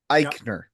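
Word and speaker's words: Aichner: Fabian Iikner. Iikner.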